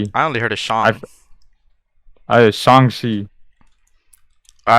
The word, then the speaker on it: Shang-Chi: it was shang shi in the movie they're like they call him shanxi no in the english no when they said that's wrong it's song c so i was saying the right the whole time when he says his